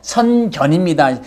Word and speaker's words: 선견: 발음을 정확히 해야 돼. 아니면 성경으로 들려요. 선견입니다.